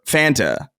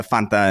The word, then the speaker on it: Fanta: the theme song for Fanta, which I think, by the way, both of those pronunciations are valid. F uh Fanta and Fanta.